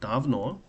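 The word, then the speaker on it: давно: Davno, because O is stressed, so I is unstressed.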